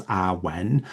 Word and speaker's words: awen: So awen and the meaning of awen consisting of two syllables awen essentially translates it poorly